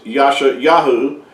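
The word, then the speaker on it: ישעיהו: madeup name as well it's not the real Hebrew name for the prophet Isaiah his his real name in Hebrew is Yasha yahu and uh when you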